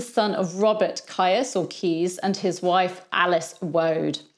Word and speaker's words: Caius: of october 1510 john keys spelt caius but pronounced keys was born at norwich